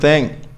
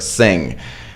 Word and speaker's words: thing: Tenths instead of tenth, which is a completely different thing. And the word thing, right, which sounds like sing if you pronounce it incorrectly.